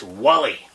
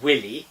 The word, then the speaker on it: Wally: is it finn it's wally the little man roared watch the wax uti is just silly egypt it's not willy because that would rhyme with silly i said wally that rhymes with gully which is something that